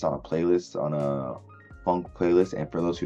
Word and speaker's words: phonk: uh well I already checked it out this funk album uh from two artists called V I think I pronounced his name right and narv it's a